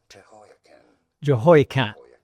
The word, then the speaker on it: Jehoiakim: How do you say it? Jehoiakim. Jehoiakim. Some may also pronounce it as Jehoiakim. Jehoiakim. Yeah, Jehoiakim. And now you know.